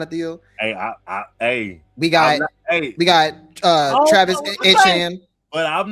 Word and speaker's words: Etienne: Etienne, I think his name is pronounced Etienne. That's what he said. It's Etienne.